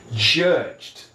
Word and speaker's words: judged: Lembrando que o E é mudo, então DG são as últimas letras. Nesse caso, o ED também fica com som de D. Repete comigo. Judged, judged, ok?